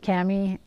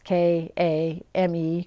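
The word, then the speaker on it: KAME: letter so i'm thinking i don't think you pronounce it cammy or i think you just say the letters k a m e crochet and it's a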